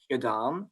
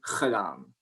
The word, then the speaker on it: gedaan: Like a word that I would say, the Flemish word, which is gedaan, which means finished. In the Netherlands, they will say gedaan.